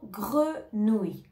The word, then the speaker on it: grenouille: continue avec le mot grenouille grenouille c'est un mot assez difficile aussi à prononcer donc ici on a le son gre gre gre le son nous nous et le son ye gre Nou grenouilleille